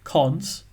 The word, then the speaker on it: cons: the the column and you pronounce that colon as cons cons it's just a historical name for it so we say h